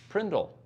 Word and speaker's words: PRNDL: is the PRNDL and it's pronounced Prindle that's a Zack and